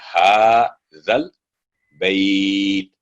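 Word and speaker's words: هذا البيت: रब्ब हाज़ल, जहां भी देखे दरमियान में 2 अलिफ है, क्योंकि लाम पर जज़म आ गई, जाल पर फतह के बाद दोनों साइलेंट हो गए.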